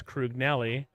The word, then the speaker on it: Crugnali: Crugnelli. I've asked him how to pronounce his name. It's Crugnelli. And I still mispronounce it, even though I know how to pronounce it.